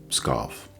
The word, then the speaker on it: Pskov: I say that I don't have any, that there was one, Nastenka, but that she's gone away to scoff. Okay, it's spelled Pskov, scoff.